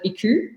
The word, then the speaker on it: iKOU: we chose the name iku which is a japanese word the japanese would actually pronounce it ikol but for us in australia we call it iku and it means to